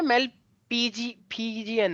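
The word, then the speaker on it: Malpighian: मेल्फी नहीं है, mail Fijian है, यही होती है अच्छा स्पेलिंग, मेल्फीजी। सही है बोल क्या सर, लेगा। बोल रहे हो? मेल्फीजियन हम बोलते हैं लेकिन स्पेलिंग में पीआई आता है, जहां तक अच्छा मुझे ठीक पता है।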